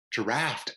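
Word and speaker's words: draught: like drought but then I was like wait is that that's not drought that's draw I'm gonna say drought the correct pronunciation of this word is draft oh okay yes okay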